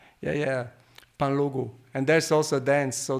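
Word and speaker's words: Kpanlogo: Okay, this is called Panlogo drums. Panlogo. Palogo drums? You write it KP, but you have to swallow the K. Okay, all right. K is silent? Yeah. Panlogo.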